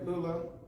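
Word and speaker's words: Lulu: My grandmother, Lula, her name is spelled L-U-L-U, but they call her Lula.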